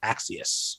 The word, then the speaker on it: Axios: He came on Crooked Media and he said, nope, we say it like Axios.